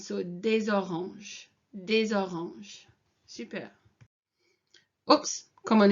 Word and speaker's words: des oranges: And if you listen to this when I'm pronouncing it, it kind of runs into des oranges. So whenever you've got something that ends in this S here, les or des, and it's followed by the vowel, then it kind of